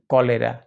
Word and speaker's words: cholera: তাহলে দ্য man died of কলেরা। স্মরণীয়, এই ক উচ্চারণ কিন্তু সিও হবে না, কেও হবে না, কিউও হবে না, CH হবে। আমাদের জেনে রাখা ভালো, CHটা কখনো চ হয় তো কখনো আবার ক হয়।